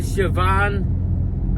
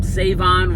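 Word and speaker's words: Shavon: So, um, so yeah, that's, you know, obviously Siobhan or Savon Rall. I guess the H is silent now.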